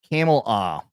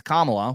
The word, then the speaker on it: Kamala: says oh well she say it like camel camela I prefer Cela but yeah we can say